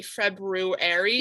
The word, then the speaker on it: February: my head i say february yeah so i remember how to spell it but when you pronounce it the r is silent so it's feminine also